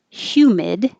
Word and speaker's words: humid: is happening right now hume it doesn't look like it but there is a y so you start with your tongue in a high position like you're going to say u but you start with the h sound hue humid and hold the d